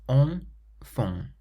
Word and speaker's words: enfant: So this word has two nasal sounds. Enfant.